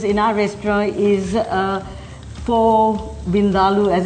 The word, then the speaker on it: vindaloo: to an Indian restaurant, Colette, say Vindaloo, they'll treat you so much nicer. Vindaloo. Yeah. Okay. Because, I mean, most people say Vindaloo, but that's not really the correct way.